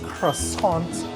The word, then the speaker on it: croissant: All right, so it's croissant time. Or does it say croissant? Because we got the correct pronunciation.